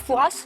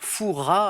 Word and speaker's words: Fouras: Le père Fouras. Alors, les puristes ne prononcent pas le S à la fin.